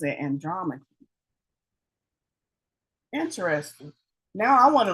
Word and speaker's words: Andromache: Google pronounces it Andromache.